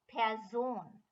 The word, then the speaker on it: Person: form of this word it is written as in english but pronounced pearson and before a noun